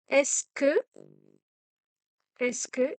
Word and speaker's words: Est-ce que: இதுல அர்த்தம் என்று சொல்லிட்டுல DS ப்ரொனவுன்ஸ் பண்ணக்கூடாது. Ma pauvre Mathilde. Courage. Attends, j'ai une idée. இரு, எனக்கு ஒரு idea. Est-ce que il y a மாதிரி சேர்த்து சொல்லணும்.